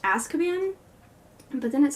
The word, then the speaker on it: Azkaban: i was saying the title rum that it's pronounced Azkaban but then it sounds like I'm saying about word and it also has a Z so I'm just going to continue pronouncing it adds cabanne so i finally got Harry Potter and the